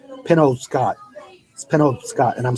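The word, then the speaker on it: Penobscot: Maine there's a bridge called Pinole Scott it spin over Scott and I'm saying it right yeah but I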